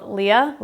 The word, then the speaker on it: Leia: This is a nail topper called Leia, like Princess Leia. It's spelled like Princess Leia, L-E-I-A.